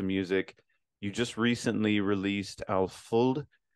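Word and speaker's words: Alföld: you just recently released alfold I think Alpha you said is how you pronounce it so can you tell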